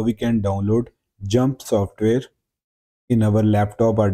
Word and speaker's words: JMP: how we can download jump software in our laptop or desktop so let's start jump software is also known as JM software we pronounce this as jump and uh let's see